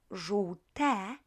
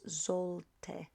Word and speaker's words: żółte: Pay attention how you pronounce this first three letters here. Żół, żół, żółte, Remember not to pronounce that sollte, okay? I hear it very often. So żółte, this is ż, this is u, and this is w, as in whiskey.